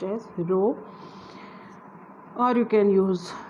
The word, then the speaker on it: rho: It is pronounced as rho, or you can use d also, but mostly now you will find rho everywhere.